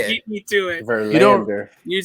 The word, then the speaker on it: Verlander: is very strong, but you're very strong on the land part for Lander. It's So almost like it's a chunk into 2. Verlander. I thought you were messing with us. Putting the emphasis on the wrong syllable.